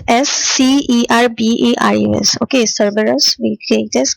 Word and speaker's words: Cerberus: Okay, then it is spelled as Cerberus. Okay, Cerberus, we take it as Kerberos.